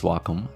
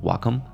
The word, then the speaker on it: Wacom: I got my first Wacom. I believe that's how you say its name in English, Wacom. And I could finally draw on my computer, which was nice.